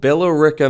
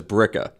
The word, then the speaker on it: Billerica: I am from a place called Billerica, Massachusetts. Got it. But I had to try really hard to pronounce that because everyone there just says Bricka.